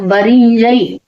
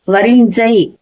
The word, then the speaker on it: வரிஞ்சை: வந்து அதே சோழ நாட்டுல வரிஞ்சை அப்படிங்கிற வரிஞ்சை வரிஞ்சை அப்படிங்கிற அந்த சை அழுத்தி உச்சரிக்கலாம் ஊஞ்சல்னு வரும்போது அந்த ங்கு பக்கரத்துல வந்து ச வருது இல்லையா ஊஞ்சல் அது மாதிரி இதை வந்து ஆனா வந்து